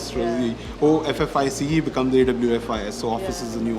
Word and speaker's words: Awfis: And when I went to the thesaurus, the pronunciation for OFFICE is AWFIS.